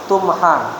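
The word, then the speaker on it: تمحى: Ini bacanya bukan tumi salah tumha ya di majhulkan maka sayiatuhu.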